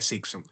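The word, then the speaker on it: Cibson: Ok, la fascia de Sixon sí es lo mismo que la fascia endotorácica, perdón, pensé que era membrana, la membrana es otra, ¿sí?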